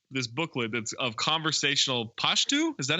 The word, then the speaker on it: Pashto: Chevy Chase pulls out this booklet that's of conversational Pashto.